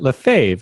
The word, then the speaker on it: Lefebvre: which is Oh I know how to pronounce it live fave and it's lef EBV re I know these